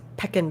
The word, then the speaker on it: pecan: and i okay okay he likes pecan pie packing pie that's how he pronounces it i used to